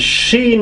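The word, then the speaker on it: ش: But the next one is sheen because of 3 dots, and it is sha, she, shu, shin, shun.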